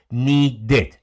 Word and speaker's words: needed: Ahora, si el verbo termina en T y en D, ahí se pronuncia la ED, started, needed. La única forma, si el verbo termina en T y en D, ahí sí hago el sonido started, needed, si es regular.